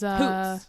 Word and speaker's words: Hoots: Hoots is Hoots. That's how you say it. That's how I say it. That's how I'm gonna say it too.